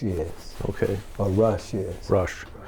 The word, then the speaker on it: Rusch: Lee, why don't you tell us who Lee Rusch is? Okay. Or Rusch is. Rusch. Well, Rusch is the German pronunciation.